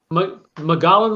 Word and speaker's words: Mogollon: Arizona has help me pronounce this, Adam, Mogollon? Mogollon Rim, yes.